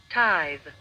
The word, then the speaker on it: tithe: Let's search the pronunciation of tyus. T I t h t h e s. Tus. Tithe.